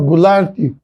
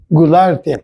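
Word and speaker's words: Goulart: Nomes que a gente pronuncia, nome de ruas, Dubal, Dubal, Gularte, Sanchotene, Lacroá, todos esses são franceses. E na verdade não é Dubal, é Dibá, não é Gularte Gular. Não é Sanchoten, é Sanchote.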